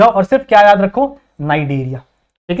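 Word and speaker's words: Cnidaria: को भूल जो और सिर्फ क्या याद रखो नाइजीरिया ठीक है तो नाइट एरिया इसको प्रोनाउंस करना है क्यों कहते हैं भैया क्योंकि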